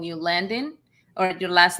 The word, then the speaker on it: Landin: And I understand sometimes they call you Landin or your last name Landin, but it's Landin. I know.